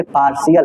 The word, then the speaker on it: partial: जब आपको टी के बाद IA दिखाई दे कहीं पर भी तो आप तुरंत सा आवाज निकालिए। जैसे पार्शियल, PARTIAL, पार्शियल का मतलब